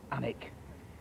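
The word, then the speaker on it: Alnwick: fantastic old pub called the cross the word anic comes from Al a Ln which is Celtic for bright River and Wick which is a Saxon word for Homestead or Farmstead it's obviously pronounced anic it was originally given to the DTI family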